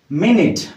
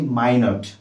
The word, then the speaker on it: minute: Okay देखंतु या केमिति उच्चारण करिबा MINUTE मिनट. Cone पढिबा मिनट. बट एडा केते को जागा रे केते को स्थान मानन करे एमिति ही स्पेलिंग थाय कि आउ गोटे वर्ड अछि जोटा होछि माइनट.